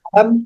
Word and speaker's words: Adam: Eh, mi invitado es es Samuel, pero ¿cómo debo pronunciar tu apellido? Adam. Adam.